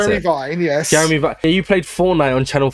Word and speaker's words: Jeremy Vine: Oh no, how did you pronounce Jeremy it? Vine, yes. Jeremy Vine.